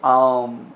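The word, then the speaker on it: ॐ: Thing right now, because पहले जो वो होता था उसकी प्रोनाउंसिएशन यूज टू बी आम, ऐसे करके उसे करते थे, which is opening of your mouth and closing of your mouth which without moving any jaw properly. सो वो आम से अब ओम हो गया है over the period for wrong pronunciation. अच्छा, तो पर वैसे ओम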